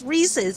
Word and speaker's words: Reese's: It's Reese's.